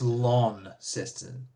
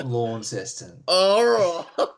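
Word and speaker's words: Launceston: Also, it's it's lawnest. Okay. Not Lawncest. It's spelled Lawncest, but it's pronounced Lawncest. Like long without the G.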